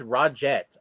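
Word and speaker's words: Roget: spell it for them because it's it's raw jet r-o-g-e-t the nice thing is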